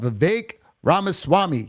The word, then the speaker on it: Vivek Ramaswamy: getter of buckets and today we're talking about Vivek ramaswamy yes that's how you say his name I